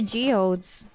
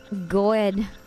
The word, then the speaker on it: geode: You know, I used to pronounce geodes as goed. Gode. When I didn't know how geode was to be pronounced, I was like, what is it? Is it gode? Gode? Cause it's so confusing. Geode. How is it? Geode. Geode.